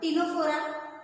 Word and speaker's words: Ctenophora: Spelling C पासून आहे परंतु उच्चार करताना टी पासून करायचा आहे. फायलम टिनोफोरा 3 नंबरचा फायलम आहे.